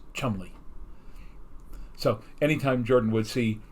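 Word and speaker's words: Cholmondeley: looked like charmander and in the actual show it was pronounced chumly so anytime jordan would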